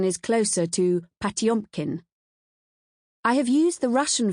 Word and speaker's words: Potemkin: The subject of this book is pmpkin even though in Russian the pronunciation is closer to patumpkin.